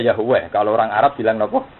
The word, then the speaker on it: Yahweh: Jadi ejaannya Yahweh.